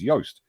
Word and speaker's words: Joost: She's Dutch, as is Joost, and that's why Joost, to pronounce his name properly, is Joost.